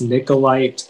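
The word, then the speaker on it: niccolite: i'm ready all right okay uh your word is nicolite nicolette and i have all the information yeah so the only pronunciation is nicolite it's a noun and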